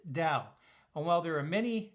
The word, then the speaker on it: Tao: the first three letters of dowtronics is correctly pronounced dao and while there are many definitions to this